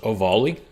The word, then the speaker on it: Ovalle: First of all, first thing I got to say about this case is that this guy's name is pronounced Ovalle.